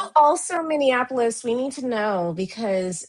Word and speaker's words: Minneapolis: The way I see it and the way I spell it, it is Minneapolis. However, both Ella and I have repeatedly heard people refer to it as Minianapolis.